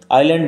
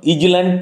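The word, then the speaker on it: island: আইল্যান্ড বানান উচ্চারণ লক্ষ্য করো, ইজল্যান্ড নয়, এস উইল রিমেন সাইল্যান্ড, এস সাইল্যান্ড থাকবে।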